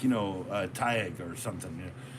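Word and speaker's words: Tadhg: And like, you know, Taig or something. You know. Taig is spelled Theag or something, Theag.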